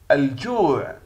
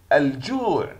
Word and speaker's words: الجوع: الجوع، الجوع تحوي القمرية تكتب وتلفظ.